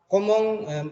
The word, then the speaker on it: comment: Komong, tulisannya komeng tapi bacanya komong. Jadi en atau ent ini dibaca ong.